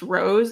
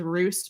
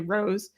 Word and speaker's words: Roos: recently learned is pronounced Rose it's spelled r o oos so we all thought it was Roose but it's actually Rose um but for this